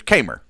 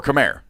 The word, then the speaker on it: Khmer: uh and there's there's kmer right or or khmer yeah right but those they're actually interchangeable in that you can say either one of them and it's correct but it's kmer and then khmer um come here like like come here but khmer like come here rouge right so i'm saying